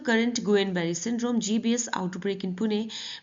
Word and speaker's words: Guillain-Barré: हिंदी में से कहते हैं गुइलेन-बेरे सिंड्रोम और इंग्लिश में इसका प्रोनाउंसिएशन है गुएन-बेरी सिंड्रोम, ठीक है, गुएन। नेक्स्ट देखते हैं, पुणे में